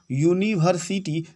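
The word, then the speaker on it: university: क्यों लगेगा ए, क्योंकि यूनिवर्सिटी का उच्चारण यूनिवर्सिटी देखिए यू अक्षर से आ रहा है, यह स्वर ध्वनि में नहीं है हमारा, इसलिए ए लगेगा।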